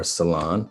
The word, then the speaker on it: Solon: So my name is Solon, or Solon, it's pronounced either way, and I'm with the Remus Enterprises Law Group that's based in Washington, D.C.